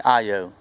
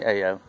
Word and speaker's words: Ayo: live close to Mississippi if you from south Louisiana it's uh-oh my last name is spelled a why oh I live close to Mississippi state line so I'm used to being called a Oh anyway I have a